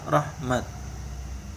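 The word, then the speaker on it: رحمة: Nah, ketika berhenti pada ta' yang tersebut, maka dibaca seperti ta' maftuhah, bukan ta' ta'nis marbutah. Ya. Jadi kalau mama berhenti di sini, kita bacanya rahmat.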